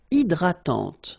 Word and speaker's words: hydratante: Une crème hydratante. So remember, H is not existing, and then this Y is pronounced like I. Hydratante. Okay, don't insist on the final E, and this is nasal.